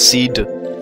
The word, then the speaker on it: SeeD: It's actually a hard D, so it's Seed.